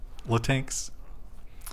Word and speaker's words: Latinx: You have to pronounce the X. Latinx.